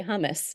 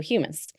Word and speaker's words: humus: So with my pronunciation, I always want to say hummus. That's the thing we eat, so humus.